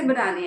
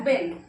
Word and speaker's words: been: ही हैज बीन, ही हैज बीन, इसकी pronunciation होती है बिन, बट जब हम लिखते हैं तो हमें लगता है ये है बीन।